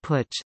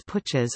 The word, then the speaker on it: Putsch: Since an unsuccessful coup d'état in 1920, the Kapp Putsch, the Swiss-German word Putsch, pronounced PT, coined for the Zurich Putsch of